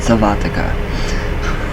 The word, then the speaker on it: sylvatica: Sylvatica. That's how you say it, Sylvatica.